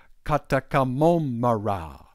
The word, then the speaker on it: Kɔtɔkɔ mommra: But in his language, which is called Chui, he has tones, high and low tones. Every syllable is either higher or lower. It's called a tonal language, you see. And in his language, it would be this. Kɔtɔkɔ mommra. Kɔtɔkɔ mommra. Kɔtɔkɔ mommra. So it's low, low, low, high, high,